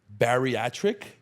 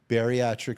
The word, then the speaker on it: bariatric: Help me pronounce it. Barriiatric. Beriatric surgery.